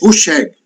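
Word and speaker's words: Hűség: disco de roseg e eu tava vendo a pronúncia hoje no no Google é huseg meio meio brabo porque eu tô chamo ele de huseg há anos ele é cantado em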